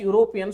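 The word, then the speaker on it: European: ಆಗಕತ್ತದಲ್ರಿ ಹಂಗಿದ್ರೆ next question no ಶಿ is dash ಯುರೋಪಿಯನ್ student ಇಲ್ಲಿ ಏನಾಗೈತಿ ನಾವು ಮಾಡ್ತಕ್ಕಂತ ಒಂದೇ ಒಂದು ಮಿಸ್ಟೇಕ್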